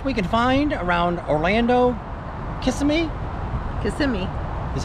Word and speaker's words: Kissimmee: Kissimmee is how they pronounce it, I think.